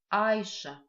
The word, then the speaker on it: айша: Обратите внимание на звук ш в слове айша. Звук ш состоит из 2 букв ш, в. Произносится как ш. Запоминаем мы этот звук с помощью слова олень, шарах.